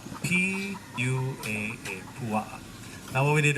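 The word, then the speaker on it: puaʻa: Pig in Hawaiian is pua'a, P-U-A-A, pua'a.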